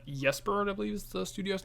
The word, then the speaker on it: Ysbryd: I do think the developers behind the game, the Allison brothers, who like YesBird, I believe is the studio's name. Is it YesBird?